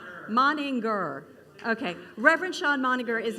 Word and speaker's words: Moninger: me a text and said this is how you pronounce it and he said maner moninger what was the grr thing you said you said g moninger moninger okay Reverend Sean minger